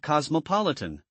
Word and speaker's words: cosmopolitan: How about cosmopolitan? That's a long word. The stress is on the third syllable. Cosmopolitan and picturesque four villages.